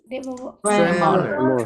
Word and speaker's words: tremor: And then the next one, tremor.